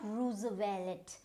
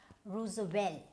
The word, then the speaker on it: Roosevelt: Then we had another US president, Theodore, and this is Theodore, and this is not Roosevelt, it's Roosevelt. So which means your T, you don't need to pronounce the T.